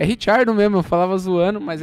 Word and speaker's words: Ricciardo: Seguido do Hamilton, o Daniel Ricciardo. É Ricciardo mesmo, eu falava zoando, mas é Ricciardo.